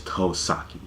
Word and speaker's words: Tosaki: manga would always get the kanji of his name wrong like his real name his real surname is toh sake you know sake which means plain too japanese